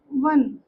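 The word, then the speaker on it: one: वन डब्ल्यू या we sound कर रहा है। ठीक है? ओ साउंड नहीं कर रहा यहां पर।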